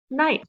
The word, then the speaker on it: knight: what's the word not k n k is silent what's the word knight remember our tricky way